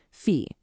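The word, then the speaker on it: في: And it's pronounced exactly like it looks, fe.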